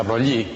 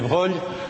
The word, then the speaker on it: Broglie: francés Louis de Broglie, creo que se pronuncia Broglie, es un embrollo el pronunciarlo porque el nombre es de origen italiano y si fuera italiano sería Broglie, pero como es francés pues hay que pronunciarlo a la francesa, de Louis de Broglie.